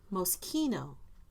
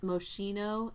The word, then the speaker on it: Moschino: very like kitschy like actually it's most kino the way to pronounce it most yeah i'm just oh not moschino and vetma i think